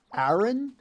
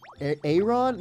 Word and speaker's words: Aron: It's like iron. So, Aaron. Aaron. Armor and iron. Aron. Like, it's going to be Aon. Like armor.